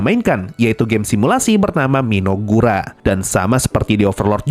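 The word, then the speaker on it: Mynoghra: Selama ini gua bacanya Minogahara, tapi kalau ngikutin animenya ternyata dibaca Minogura.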